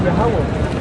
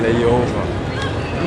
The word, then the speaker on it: Yahawah: Everybody, the Muslim calls him Allah, but in reality his name is Yahawah. In the Hebrew. Yahawah. Okay? In my country, they tell Yehovah.